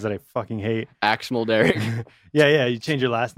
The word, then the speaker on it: Mulderrig: How do you say your last name? Mulderrig. Mulderrig? Mulderrig. Okay, because in my head I say like Mulderrig.